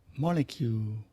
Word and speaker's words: molecule: cars buses and trucks molecule molecule ไม่ใช่โมเลกุล molecule molecule atom atom in British